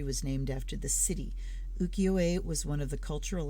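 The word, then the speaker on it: ukiyo-e: yes it is pronounced ukiyoe not yukiyo if it's yuki in japanese it's yu this is just uki so uki o e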